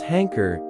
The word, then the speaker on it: hanker: Pronounce ʻhæŋkər as ʻhæŋkər, with the emphasis on the first syllable, hang.